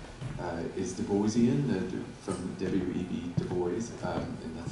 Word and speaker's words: Du Bois: Du Bois, and that's how I pronounce his name.